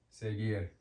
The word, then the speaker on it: seguir: It's before an U, G, seguir. Remember, this is pronounced he, not ge, he. But the sound that it makes is g, seguir, g, seguir. That's in front of U, so it's hard.